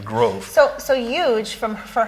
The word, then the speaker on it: Grove: me huge and and groove was just a common mispronunciation of my last name growth so so huge from